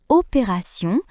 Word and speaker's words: opération: Dans le mot attention, T se prononce S.